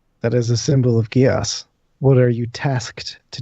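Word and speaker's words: Geas: That is a symbol of Gios.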